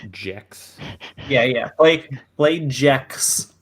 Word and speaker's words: Gex: believe it's pronounced Jex.